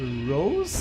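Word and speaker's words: Roze: Oh, it's not Rose. It's Ros.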